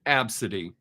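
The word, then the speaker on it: Abcde: had students with a name a b CDE e it's pronounced absidy how sorry do you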